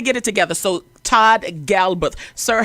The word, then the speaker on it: Galberth: to get it right so how do you pronounce it okay so it's Galbraith all right we're going to get it together so Todd Galbraith sir how are you doing awesome listen I